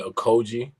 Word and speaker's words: Okojie: All right, my first and last name is Okojie.